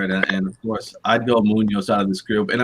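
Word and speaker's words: Muñoz: At least pronounce it right if you're going to take my guy. Sebastian Munoz. Yeah. I just can't do the rolling in. I have trouble with it. Munoz.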